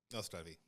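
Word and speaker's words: Na zdraví: No Zdraví. Did I say it right? Yeah. He's a little harder on the R.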